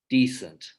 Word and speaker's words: decent: pairs okay so if you start at the top left descent and then you look down toward the bottom right you have its pair decent okay and you can do these in many different ways but what you're really training here is perception whether they're hearing the stress on one syllable versus another okay and students like